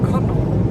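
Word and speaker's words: Connaught: Connor, that's how you pronounce it.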